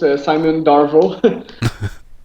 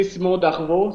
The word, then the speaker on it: Simon Darveau: Simo in in French we say Simo Darvo. So we don't pronounce the R the same way but yeah Simo Daro Darvo. The E AU part of it is just pronounced simply O.